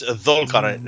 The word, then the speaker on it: Dhul-Qarnayn: It's Dhul-Qarnayn.